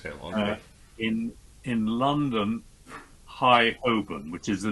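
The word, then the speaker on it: Holborn: Hi Hoben, which is the name of the street, the name of the road is Hi Hoben.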